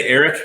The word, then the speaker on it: Aric: So one of the big things was Shanhara and I say Eric because I know a man named Eric whose name is spelled that way. I know everybody says Arik internally, but they, you have